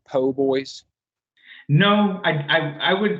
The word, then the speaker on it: po' boy: feel weird about saying po boys no I I I was I was saying poor boy but then you get there and it's spelled PoBoy I know I know